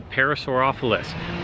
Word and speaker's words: Parasaurolophus: Okay, it's Parasaurolophus.